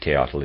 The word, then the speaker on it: Teotl: I'm pronouncing it Teotl, it's T-A-O-T-L.